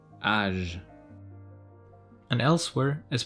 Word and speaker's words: âge: Letter G before E, I, and Y is pronounced as je, givre, âge.